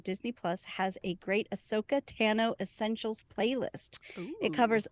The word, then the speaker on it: Ahsoka: Ashoka? Ahsoka. Oh boy, Anne. Ahsoka. Abby 2 writes in Ahsoka's background. If anyone is interested in learning more about Ahsoka's background, Disney Plus has a great Ahsoka Tano Essentials playlist.